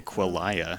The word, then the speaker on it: Quillaja: I was worried about like Quillaja, or how do you pronounce that? Quillalaja? Is that Quillaja? Yeah. I'm assuming. Or I don't know, some other thing that I didn't see. I say Quillaya.